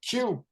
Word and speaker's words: Kue: I'm joined with the homie Q. That's spelled Kue.